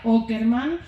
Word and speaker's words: Åkerman: Ya el apellido, que se escribe Åkerman, se pronuncia Åkerman, pero claro, quería poner un nombre sueco porque Nils es muy sueco, entonces tiene que tener una letra que solo esté en sueco, que es una A con una redondita arriba. Se pronuncia O, secretillo, chicos.